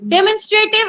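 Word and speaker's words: demonstrative: तो इट्स डेमोन्स्ट्रेटिव, नॉट डिमॉन्स्ट्रेटिव, okay. तो डेमोन्स्ट्रेटिव adjectives, और ये एडजेक्टिव नहीं है, एडजेक्टिव्स। जो डी है उसको बहुत मिमल सा करके पढ़ना है, एडजेक्टिव्स, ओके। डेमोन्स्ट्रेटिव एडजेक्टिव्स, इसकी डेफिनेशन देखिए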